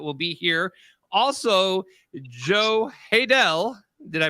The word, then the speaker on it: Haydel: Megan Ashley that will be here also Joe haydel did I pronounce that right yes you did yeah he's